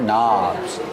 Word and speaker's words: knobs: Remember, with knobs, you have a silent K at the beginning of the word. These are knobs.